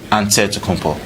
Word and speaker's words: Antetokounmpo: for giannis you say with the nc like antetokounmpo so i changed myself like i don't think